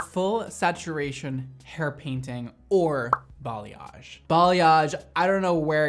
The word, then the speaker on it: balayage: came from but it's a interesting word that a lot of people can't pronounce they say boad they say balage they say bage like I've heard everything